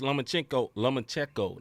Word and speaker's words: Lomachenko: Haney defeats Lomachenko.